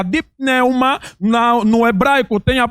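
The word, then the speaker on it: πνεῦμα: entendemos a palavra espírito No grego tem a pronúncia de pneuma na no hebraico tem a pronúncia de ruach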